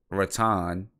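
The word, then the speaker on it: Rathan-Mayes: 3 assists, and then Xavier Rattan, that's how he wants his name to be pronounced.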